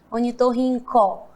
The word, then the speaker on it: ornitorrinco: nós não falamos crocodilo Ornitorrinco né é ornitorrinco crocodilo Olha aí o é bem bastante com os pontos do último né porque os outros têm som de Ó mas o último tem som Dio onitorrinco crocodilo tem mais